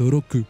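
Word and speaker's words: 六: qui signifie 6 car en japonais 6 se prononce roku qui quand il est diminué faut se lire RU et enfin on a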